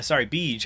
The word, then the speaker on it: Zabij: And Zabij is, Beej, I forget that the Z is silent, and Beej is a